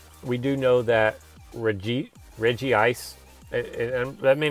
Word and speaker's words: Regice: I will say we do know that Reggie Reggie ice and that may not be how you say it maybe reject regice but we're gonna call me Reggie ice and